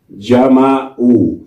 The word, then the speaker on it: جمعوا: أو تقول هنا مثلا جمعوا، كيف نكتب جمعوا؟ هم جمعوا، جمعوا، جمع كلمة. من أين جاء هذه الألف؟ لا نقرأها ولا ننطقها، ولكن جاء بالإضافة هناك.